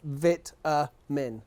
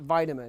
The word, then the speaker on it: vitamin: vitamin like come on it's vit min how it's spelt not vitamin there's no y no